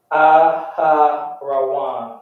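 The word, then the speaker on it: אהרן: Aharawan.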